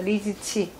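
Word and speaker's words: Li Ziqi: 핑잉을 읽으실 수 있는 분이면은 네, Z가 핑잉에서 중국말, 그 영어로 쓰는 중국말에서 지읒 발음이 나요. 리지. 그리고 Q로 쓰는 게 치읓발이 나요. 그래서 리즈치. 중국어로는 이 사람 그 이름이 뭐 다르겠죠, 뭐.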